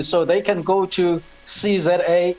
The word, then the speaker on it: SeeZA: So they can go to CZA, it's spelled SEEZA, one word, dot today.